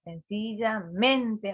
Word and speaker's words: sencillamente: Sencillamente, por ejemplo, sencillamente, otra vez. ¿Dónde tenemos en sencilla la acentuación? En esa palabra. Piensen bien, sencillamente. Otra vez en esa, en la La segunda sílaba.